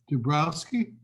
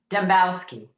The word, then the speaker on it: Dembowski: Dubrowski? Dembowski. How you spell it? How you say it? There's no R in it.